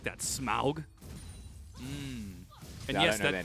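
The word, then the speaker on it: Smaug: good I like that smug I don't know their name that is the actual pronunciation of smog it's not smog smog is the thing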